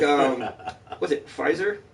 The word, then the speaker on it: Pfizer: like um was it pfizer is that how you say it pfizer was the p silent yeah all right these fives